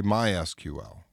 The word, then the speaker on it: MySQL: that you probably could but sequel is in the United States at least the dominant way we say it sequel server okay my sequel some people will say MySQL okay so pronounce it however you want nobody's going to make a judgment bet on your skills or knowledge based on how you pronounce the product name now SQL the actual